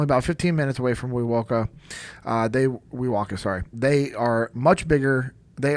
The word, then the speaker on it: Wewoka: No, you're pronouncing it right, bro. It's Wewoka.